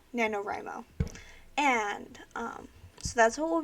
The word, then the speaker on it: NaNoWriMo: is based on NaNoWRIMO, which is how you say the rest of my title. I know that looks complicated, but that's what it's called, NaNoWRIMO.